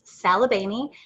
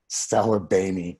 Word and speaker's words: Saglibene: So it's Saglibene, and I always tell people that the G is silent like lasagna. Saglibene.